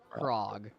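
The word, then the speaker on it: Krog: his name again Rog frog with a K frog no frog frog crog crog crog good morning how's it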